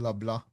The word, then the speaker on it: LeBlanc: By So the way, yeah, the C is silent in LeBlanc.